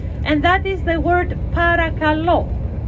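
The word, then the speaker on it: παρακαλώ: that is the word parakalo again the stress goes to the last syllable that is you're welcome and it's also please so when someone tells you fjaristo you reply paragalo well done but also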